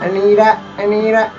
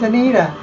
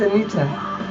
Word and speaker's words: Anita: But I hate it when Americans say my name, Anita. No, it's Anita. It's not Anita. It's Anita.